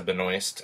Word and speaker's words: Benoist: really entertained by it and I thought Melissa Benoist as we discovered that's how you say her